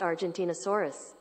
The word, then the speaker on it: Argentinosaurus: ask how do you pronounce identity masaru's that's pronounced Argentinosaurus how do you Argentinosaurus is spelled a are